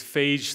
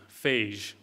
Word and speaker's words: phage: Some people pronounce them phage, I say phage, which can cause bacteria to explode.